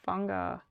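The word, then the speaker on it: whanga: it means bae oh it has an f sound in maori okay so fanga rhymes with tonga yes you named after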